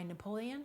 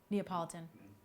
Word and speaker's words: Neapolitan: when I'm shooting is my Napoleon how do you say that Neapolitan is my Napolitan is Neapolitan you